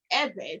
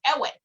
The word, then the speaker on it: Ewe: uh it is pronounced eva the way you pronounce the name uh you purse your lips you and you blow air while creating a vibration sound so it sounds like